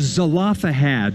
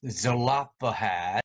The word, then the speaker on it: Zelophehad: daughters of slovak but here's a story he pronounces the word as slovak daughters of zelophehad do you remember and then this person pronounced it as zelapohat of the five dollars of zalapa head five